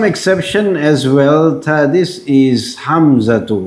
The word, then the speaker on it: Hamza: But now, but when you speak it, you won't pronounce it as Hamzatu. You just say Hamza, Hamza.